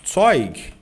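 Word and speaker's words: Zeug: Toig em alemão pronúncia, tá? Muito importante a letra Z no alemão. Sempre sempre que vem antes de uma de uma vogal, ela tem som de TS, OK?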